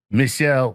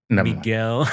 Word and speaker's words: Miguel: And by the way, you pronounced it in a French way, but he's Spanish or Mexican. Mexican. He's oh, Mexican. really? Yeah. Oh, so it's just like, Michel, what's up, Vato? Miguel.